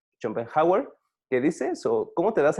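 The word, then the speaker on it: Schopenhauer: llama así y hay un filósofo efe se pronuncia rompen hauer que dicen como te das a respetar pues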